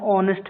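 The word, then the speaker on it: honest: क्योंकि यह एच को हम लोग ओ पढ़ते हैं। एच साइलेंट होता है, ऑनेस्ट होता है।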